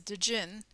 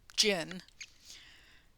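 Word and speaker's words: djinn: It's a dyn or jin. Uh you don't generally pronounce the d.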